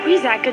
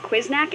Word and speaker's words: Quiznak: And then What the quizzack just happened? It's pronounced Quiznak, and I have no idea.